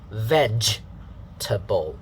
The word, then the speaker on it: vegetable: a good pronunciation here the pronunciation that is given here is vegetable the first syllable is venge ending with the j sound sound here we talked